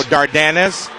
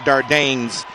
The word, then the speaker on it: Dardanis: We're going to go Dardanis. Yes. Because I've always called him Dardanes, and he's never been mean enough to correct you, I guess.